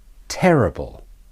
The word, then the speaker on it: terrible: three or more syllables the first word is terrible terrible terrible the first e is stressed and the I becomes de-stressed and the bull has